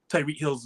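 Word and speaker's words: Tyreek Hill: right I need to put some respect on Tyree kills me because when that trade was initially made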